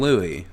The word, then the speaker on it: Louis: King Louis. The S is silent.